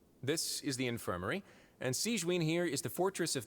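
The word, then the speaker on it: Sigewinne: This is the infirmary, and Sigewin here is the Fortress of Meripede's head nurse.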